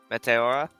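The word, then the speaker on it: Meteora: You just Google Matera. It's a really beautiful place actually to visit. I'm going right now. How do you pronounce it again? Matera. Mateora.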